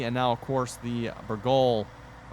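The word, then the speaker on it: Bourgault: I know both the Kloss DLC and now, of course, the Burgol. Well, someone said it's pronounced without the T on the end, so Burgol?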